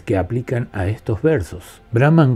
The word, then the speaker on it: Brahman: Brahman cuando es leído en un texto se pronuncia Brahman, pero cuando se canta se pronuncia Brahman. Pero como existen excepciones, algunas veces suena Brahman y otras veces suena Brahman.